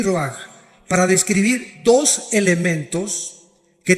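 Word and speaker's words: רוח: Se pronuncia roaj. Por ejemplo, cuando hablamos del Espíritu Santo, el Espíritu Santo es roj el kados.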